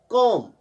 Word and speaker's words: calm: इसी तरह कॉम, CALM, L silent रहता है।